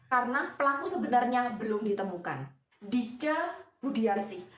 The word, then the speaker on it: Ditje: Dice Budiarsi, dilihat dari namanya aja masih pakai ejaan lama ya, bukan Dice tapi DITJE.